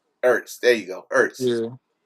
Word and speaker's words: Ertz: Zach East? I never know how to pronounce his last name, but tight end that used to play with the Eagles. He's a free Oh, agent. Zach Ertz. Ertz.